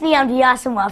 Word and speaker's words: Nnamdi Asomugha: Okay, so it's pronounced Nnamdi Asomugha, first of all, Jimmy.